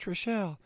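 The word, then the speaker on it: Trachsel: Chicago Cubs pitcher uh Steve Trashel. It's pronounced Tricelle Trashel.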